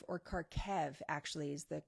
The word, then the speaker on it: Kharkiv: because i've never actually said the name of kharkiv or karkev actually is the correct pronouncer according to my research karkev probably wrong